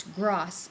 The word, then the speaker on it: Gross: it's a street remember it's gross it's not grass actually it's Gross Road um Bulch Springs we